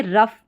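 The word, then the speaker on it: rough: अब यहाँ पर देखिए रफ, ठीक है, OUGH का जो ये पैटर्न है इसमें अफ करके इस OUGH का प्रोनाउंसिएशन आ रहा है।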